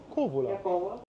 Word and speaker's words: Kouvola: Kouvola wird mit K-O-U geschrieben, aber das U spricht man nicht mit. Na, reicht der Zoom bis dahin? Da steht's. Kouvola.